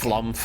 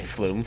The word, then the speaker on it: flumph: flump and the people who say flumph. speak no more. Yeah, that's a Quebecois pronunciation.